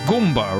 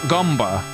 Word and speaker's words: Goomba: But it is Goomba, right? I am pronouncing it correctly. It's not Gumba. It was never Gumba. It can't be Gumba.